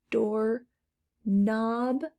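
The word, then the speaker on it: doorknob: of our compound words door knob no k sound i'll put that here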